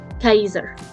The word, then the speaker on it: Caesar: knows which well fact in his native language latin the way you would say his name is actually julius kaiser it's not julius caesar it's julius kaiser